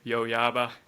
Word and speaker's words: Yoyaba: Internally, we always say Yoyaba. Uh, is there any meaning behind the company name, by the way? I always wondered. Actually, you're one of the few who pronounces the name correctly.